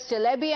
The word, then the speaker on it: Çelebi: This is the statement that has come in from Celebi, in Turkish pronounced as Celebi, I'm told.